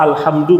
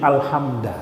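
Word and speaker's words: الحمد: Kemudian dia rubah alhamdu menjadi alhamda. Hanya rubah dari du ke da.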